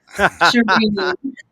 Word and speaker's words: Cherene: Is that how you pronounce it? Cherene? I think really close. Cherene.